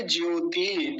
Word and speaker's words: ज्योति: आप ज्योति अब देखिए ज्योति ज्योति में त का पर कैसा इकार है दीर्घ इकार बड़ी ई की मात्रा है पीछे जो ज्योति